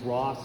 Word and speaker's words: Ross: And that's how it's pronounced because it's German. It's not Rho apostrophe S, it's Ross.